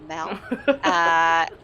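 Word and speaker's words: Mall: Someone's written on the socials to say it should rhyme with Pal, so the Mel.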